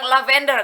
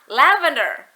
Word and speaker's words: lavender: sudah mengucapkannya dengan benar aku bilang lavender ternyata dia gak ngerti karena pengucapkan yang benar adalah lavender ada penekanan pada suku kata la you see how English